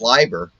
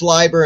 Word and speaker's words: Leiber: That's pronounced Leiber, huh? Yeah, Fritz Leiber. I always had a notion that it was pronounced Lieber. Sometimes I just get the names mispronounced. And it could be, some people could say Leiber. Yeah. That's true. I've always heard Leiber.